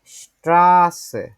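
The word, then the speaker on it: Straße: এইটা আছে যেটা এইটা আমরা ডবল এস ডবল এস এটা যখন যেভাবে করে উচ্চারণ করি এটাও হচ্ছে ঐরকম করে ঠিক আছে যেমন ধরেন হচ্ছে আমরা একটা শব্দ শিখি এটা হচ্ছে রাস্তা রাস্তা এটা বাংলা ডেসটা যদি দেখি স্ট্রাসে হ্যাঁ স্ট্রা আছে এটা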